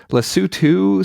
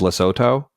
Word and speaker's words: Lesotho: and uh yeah so apparently lutu seems to be the UK pronunciation while the US is loto all right well you